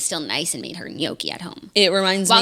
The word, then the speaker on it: gnocchi: Hannah G doesn't know how to pronounce gnocchi. Oh my God, I saw that. How did she pronounce it? Ganache. Come again? Ganache. She said the G? She said, not just the G, she said shh.